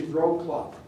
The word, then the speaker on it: Wrocław: This would be Wrocław. The W's are pronounced as B's.